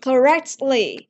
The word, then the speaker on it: correctly: Nhưng mà trong giao tiếp thông thường thì với những cái chữ này thì người ta thường thường là bỏ cái âm t mà người ta đọc là correct.